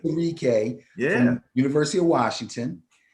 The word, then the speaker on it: Onwuzurike: Levi Onwuzurike. Levi, that's about right. Onwuzurike, Yeah.